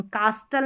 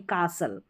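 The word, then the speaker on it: castle: एस टी एन एस टी एन एस टीए तो listen नहीं listen फास्टन नहीं फ़सन कास्टल नहीं कासल इस तरीके से कासल या कैसल नंबर 11 पर है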